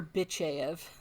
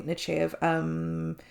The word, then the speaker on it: Nechayev: Because I think I've called her that in the past, but Picard, I forget every time what it is, and then when Picard said it, he did not say it like that. But, okay, Nechayev.